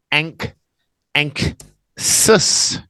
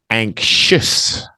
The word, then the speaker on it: anxious: those really weird X's you notice it's not a KS yeah it's not ankh sis this is the ksh sound anxious and there's another really